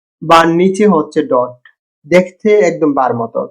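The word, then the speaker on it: حاء: এই অক্ষরটা হা এর উচ্চারণে কোন আওয়াজ নেই। এটা এক ধরনের নীরব নিঃশ্বাসের মত শব্দ। মাখরাজ গলার মাঝখান গলার মাঝখান উচ্চারণ খুব হালকা। হ বাংলা হ টুট। টুট বা জিহবা কিছু নড়ে না। টুট বা জিহবা কিছু নড়বে না। যেমন হা এরকম একটা শব্দ হবে আর কি গলাটা একদম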